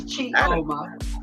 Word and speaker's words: Chioma: So that's my first initial and my last name, which is Chioma. And did I say it wrong? Was I saying it wrong? Yeah, it's Chioma.